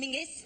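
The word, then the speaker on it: Menzies: men John men men let's go to John mingis like I'm not making G not a z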